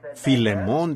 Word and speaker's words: Filemón: me lo sé, y a veces no puedo pronunciarlos correctamente por la falta de educación. Así que Filemón dijo alguien allá atrás, lo cual creo que es la pronunciación correcta.